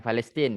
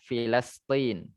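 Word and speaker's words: فلسطين: Bukan Palestina, kita bacanya Filastin.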